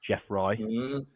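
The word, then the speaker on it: geoffroyi: So there's Corydoras Jeffroy, not Jeffroy A or E, depending on how you pronounce it, just Jeffroy.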